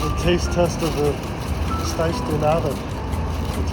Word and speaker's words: pastéis de nata: All right, here's a taste test of the pastéis de nata, that's how you pronounce it.